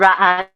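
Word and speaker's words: Ra'anana: It's pronounced Ra'an, but that's pretty good.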